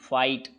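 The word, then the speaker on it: fight: Last में जब जी एच टी आए तो जी एच साइलेंट होता है और जी के बाद एन आए तो केवल जी साइलेंट होता है। लेते हैं example. C ए यू जी एस टी कॉट, एफ आई जी एस टी फाइट, बी आर ओ यू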